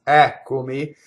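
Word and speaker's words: Eccomi: We started with an antepenultimate stress, which is the syllable before the second to last, Ɛccomi, and then now we have one on the ultimate.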